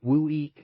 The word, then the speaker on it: WUI: More technically, a WUI, pronounced WUI, describes anywhere that has at least one house